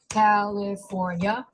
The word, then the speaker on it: California: It's got multiple syllables. California. That's 4. Right? It's got an L and an R.